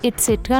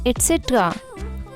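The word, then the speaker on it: et cetera: kids onion onion 2 अब इसे हम इट्स ए ट्राय नहीं बोलते इसे हम बोलते हैं एटसेट्रा एटसेट्रा है अरे यह तो बहुत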